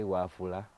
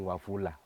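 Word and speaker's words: Wafula: especially the African names when for example you want to say waffula we may find ourselves saying wafulla which is not right so guys I love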